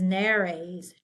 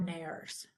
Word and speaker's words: nares: This is nares, 2, not nares.